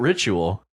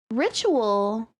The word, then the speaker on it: ritual: okay yeah wow right on uh how about ritual ritual interestingly it always blows my students Minds when